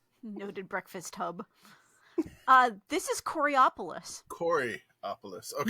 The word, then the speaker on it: Coraopolis: This is Coraopolis. Coriopolis. Okay. No, it's not. See, See that letter the way you just pronounced it, Coriopolis, that would imply a non-A there.